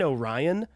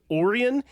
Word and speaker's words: Orion: And And I will also say for anybody that that's sitting there going, I think you mean Orion. No, his brother's name is pronounced Oran.